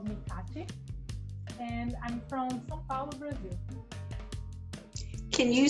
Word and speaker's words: São Paulo: And that would be for English speakers, St. Paul? Yes, it would be, but we say São Paulo. São Paulo.